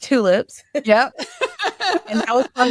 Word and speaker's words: TXLips: spelled TX Lips, but it's pronounced tulips.